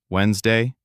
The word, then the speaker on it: Wednesday: We talked about silent letters. Knife, no, rap, hour, Wednesday, comfortable. We talked about the th